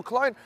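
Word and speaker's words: Köln: it's the teams from cologne well clone probably how we say it in English in German it's a bit more like Kern and it's going to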